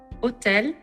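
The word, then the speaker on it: hôtel: facts about french consonants in french the letter h is always silent hotel the letter r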